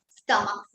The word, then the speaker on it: stomach: Stomach. You add only. It's not ES, it is S. Because CH is not pronounced as CH, it is K. The sound given is stomach.